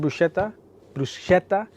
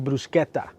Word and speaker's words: bruschetta: I know a lot of people pronounce it bruschetta, but it's actually bruschetta.